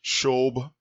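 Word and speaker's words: שוב: the verb is sha wa ba which is pronounced shobh which means to return or to turn back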